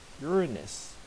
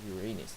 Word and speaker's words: Uranus: And then Neptune with Triton, and that's about Uranus, or Uranus, depending on how you pronounce it.